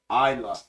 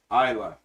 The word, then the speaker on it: Isa: they do stay strong PS my name is pronounced Isa okay Isa you had it right the first time thank you all right